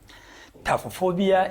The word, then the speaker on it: taphophobia: Today I'm going to discuss on taphophobia. Taphophobia is being pronounced as taphophobia. That means PHO is being pronounced as PH is F, so the pronunciation is taphophobia.